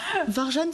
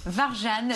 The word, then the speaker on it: Warjan: oui en fait c'est la prononciation est un peu différente de l'écriture d'accord bon je peux le dire varjan ça passe c'est mieux que varjan bon varjane donc une série à